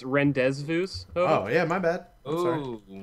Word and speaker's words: rendezvous: that you see man and uh and let's rendezvous back over there where the bunny is actually pronounced rendezvous oh yeah my bad oh that's where where